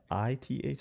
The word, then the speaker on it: Sith: Uh, is it S Si TH?